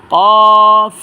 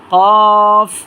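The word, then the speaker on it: قاف: পড়বেন তা এই হরফটার নাম হচ্ছে কফ আপনার কফটা উচ্চারণ হবে জিহ্বার ঘোড়া তার বরাবর উপরে তালুর সাথে লাগাইয়া এবং তিন আলিফ টেনে এবং মোটা আওয়াজে হরফটা উচ্চারণ করবেন কফ কফ কফ এ হরফ নাম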